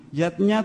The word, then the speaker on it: yajna: Bunda rukunnya yaitu panca yatnya panca artinya lima zatnya itu artinya lima macam selamatan yatnya tulisannya yajna Ayah Bunda tapi membacanya yatnya yang pertama adalah dewa